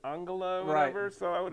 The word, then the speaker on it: Angela: Justin, I could have I probably would have said Angela Merkel, which they pronounce it Angala, whatever.